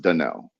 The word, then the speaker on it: Danell: if anybody wants to know where Danell came from, Danell is actually the original pronunciation of my middle name. It's spelled Nice. Danielle, but it's pronounced Danell.